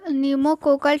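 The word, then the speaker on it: pneumococcal: बचाता है ठीक है इसका फुल फॉर्म होता है निमो निमो कोकल ठीक है पी से स्टार्ट होता है प जो है इसमें साइलेंट होता है तो निमो कोकल पी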